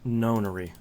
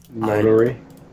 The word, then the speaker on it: nonary: The Zero Escape, it's pronounced nonary. Notary.